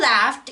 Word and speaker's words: laughed: Although laughed is pronounced with a T sound at the end, it's not spelled with a letter T.